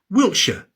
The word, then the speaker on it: Wiltshire: And shia is usually pronounced sha, Wiltshire, Yorkshire. And ham is usually pronounced um Birmingham, Nottingham.